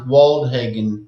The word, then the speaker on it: Woldhagen: That's it's pronounced Woldhagen. It's not, Oh. it's Norwegian on my dad's side.